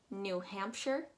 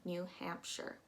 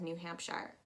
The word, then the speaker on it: New Hampshire: again it's english so you're going to be pronouncing that ire as if it's just an ir new hampshire don't pronounce it as new hampshire underneath that we have